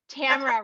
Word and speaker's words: Tamara: t tamara just kidding tamara rhymes with camera we were just joking